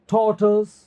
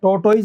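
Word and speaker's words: tortoise: ओ आई एस ई टॉर्टस, टॉर्टस, ठीक है ना। इसको टॉर्टस कहते हैं, टॉर्टोइज नहीं, टॉर्टस, टॉर्टस।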